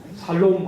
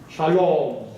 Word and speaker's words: 샬롬: 발음을 잘 해야 돼요. 살롬 하면 살롬 죽일 놈 한 소리가 돼요. 샬롬. 혀를 착용 굴려가지고 이렇게 해야 돼요.